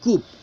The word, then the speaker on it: coup: Coup, this is not coup. Coup, P is silent, a sudden and illegal capture of power from government.